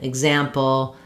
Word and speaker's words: example: If letters EX are followed by a vowel sound, like in example, exude, etc., it will have the voiced sounds for letter X. So they will be igs.